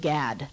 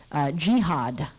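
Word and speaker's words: GHAD: they don't pronounce it I pronounce it GAD gh ad I just say GAD that's what most people say but the ecology crowd says jihad they don't like it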